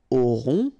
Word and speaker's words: aurons: Okay, nous aurons. Final S not pronounced. O and N together, nasal. On.